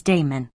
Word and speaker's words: Damon: most writers tell us that his tutor in music was Damon whose name they say should be pronounced with the first syllable short Aristotle however says that